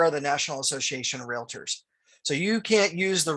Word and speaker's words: realtor: pronounce it correctly so real tour. So real Arielle to our tour. That's it, two syllables.